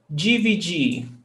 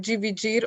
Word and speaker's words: dividir: According to the R, in the infinitive verbs, I don't pronounce the R, dividir. But in some regions, they pronounce dividir, the at the end, dividir, okay?